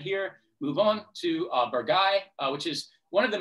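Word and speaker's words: Bourgueil: is bollocks it's pronounced bragai it's like one of those it just kind of gets lost in your throat and becomes something else i apologize to the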